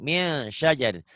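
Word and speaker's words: مِنْ شَجَرٍ: Dibacanya harus bagaimana? Eng. Ang, tapi enggak ang banget ya, samar lah bunyi ang. Min syajarin.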